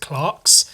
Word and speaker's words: clerks: them Clarks over here spelled the same it's spelled c-l-e-r-k-s but we pronounce it Clarks for some reason um